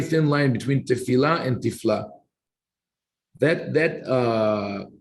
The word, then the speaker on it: תפלה: Even though we read it, the translation, the word tifla is interesting because it is spelled exactly like tefillah, prayer, but here it's tifla from the word tafel, meaning something with no value or with no flavor, useless.